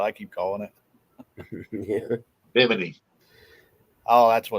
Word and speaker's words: Bimini: He said, "Say Bimini again." Bikini. I'll try. Benjamin. Did I not say it right again? Yeah. I'm going to say bikini because that's what J-Dog called it. Bimini, B-I-M-I-N-I, Bimini. We're gonna Bikini.